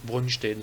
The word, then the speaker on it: Brønsted: Brønsted, j'ai écrit comme ça avec un O, mais en danois, c'est un O barré comme ça qui se prononce E plutôt que O. Hein. Brønsted, ça on dirait.